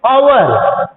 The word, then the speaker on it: hour: And second example is an hour ago. Here, H also silent. Therefore, the pronunciation is hour.